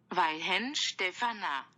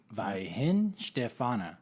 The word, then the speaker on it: Weihenstephaner: So, Brun, can you please tell us how to pronounce this beer properly? I feel like we're being terrible Germans. Weihenstephaner. Weihenstephaner.